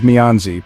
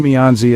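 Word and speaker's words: 面子: connections not exploiting them our second word is mezi pronounced as fourth a neutral tone mezi is a deeply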